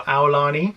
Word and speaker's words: Aulani: to start the hall with or Lani or Aulani as we know it's pronounced so we were Disney's Aulani for four